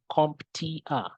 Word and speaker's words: CompTIA: Now, CompTIA, and you can see here how we pronounce it, CompTIA.